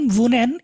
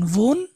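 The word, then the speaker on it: wohne: এটা তো দেখেন ভুনেন, এই ভুনেন ভার্বটা এখন যদি আমি ডুর সাথে ইউজ করি তাহলে কি হবে ভার্বটা, ডু।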